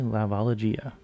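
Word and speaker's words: La Valigia: album La Valia vagia it's usually a hard G with Japanese but this is Italian and it means the suitcase so definitely laalia anyway she also had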